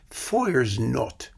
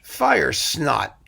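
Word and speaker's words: Feuersnot: there was fire snot pronounced in german foyers not as opposed to english fire snot foyer's note we'll get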